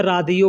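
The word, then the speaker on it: راديو: Radio को अरबी में रादियो बोलते हैं, रेडियो को अरबी में रादियो।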